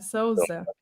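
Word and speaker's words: Sousa: Just because it's a very common name in Portuguese, and I always hear people saying Souza instead of Souza. There's like a diphthong sound in there.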